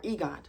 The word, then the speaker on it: EGOT: And he's like, I know your goal is to get the IGOT, or EGOT, that's how it's pronounced, an EGOT.